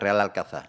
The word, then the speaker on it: Real Alcázar: hispana árabe Y ahora cuál es su pronunciación correcta real alcaza o reales alcázares real alcázar toda la pronunciación correcta es real alcanzar no quita que más